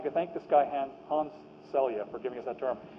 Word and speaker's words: Selye: I'll talk a bit about Celia, and then we'll be done for today. It's pronounced Celia.